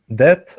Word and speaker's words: debt: So debt also, but debt. Debt. What do you mean? Like when you owe money someone? Yes. Debt. Yeah, it's called debt. The B is not pronounced.